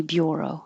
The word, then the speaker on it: bureau: like her beer or maybe it could be bureau i always say bureau let's look it up